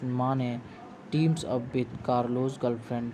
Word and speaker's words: Mane: the once honest cop Namdev Mane, pronounced as Mane, teams up with Carlos' girlfriend Shania, who is on the lookout for hidden diamonds and facing bankruptcy.